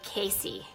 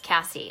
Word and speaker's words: Cassie: the way it's spelt a lot of people say KC but it's Cassie like all my life